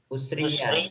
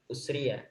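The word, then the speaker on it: أُسْرِيَ: Wal mi'raju haqqun wa qad usri bin Itu bacanya bagaimana itu? Usriya ya. Karena dia fi'il madhi. Usriya.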